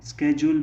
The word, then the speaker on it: schedule: शेड्यूल को American pronunciation में स्केड्यूल भी कहा जाता है।